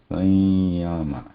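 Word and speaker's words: संयम: So when we pronounce this, we are pronouncing it as Sanya, Sanyama, right? Sanya. That that sound is Anuswara here, which is distinctly different from this Amba.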